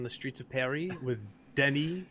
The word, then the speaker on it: Denis: I want to, direct traffic on the streets of Paris with Denis, which is how you say Dennis in French, by the way.